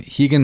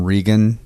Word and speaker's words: Rigan: triumph and disaster and this week I have Hagan Machado I was always calling him Regan for some reason I mean that's I think